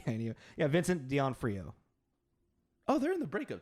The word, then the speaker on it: D'Onofrio: then our villain, Vincent D'Onofrio, who's our You say his name wrong every single time. fuck off. It's D'Onofrio. Vincent D'Onofrio. I mean, because it's D-O-N-O. Sorry, Vincent. F-R-I-O.